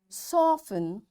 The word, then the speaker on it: soften: Fasten, castle or castle, often, whistle, soften, hasten, bustle, and gourmet. There are different words, but in all these words, T is silent.